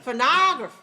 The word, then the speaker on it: phonograph: one phonograph second one phonography no no third one graph okay which one is correct phonograph first syllable is first okay syllable number one